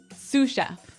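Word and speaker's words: sous: to our second word suf suf suf suf s o u s so the S is silent because it's like a French word yeah something like that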